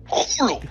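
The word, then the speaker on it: Cthulhu: like how you're like how you're supposed to pronounce cthulu is Kulu Kulu that's how you're supposed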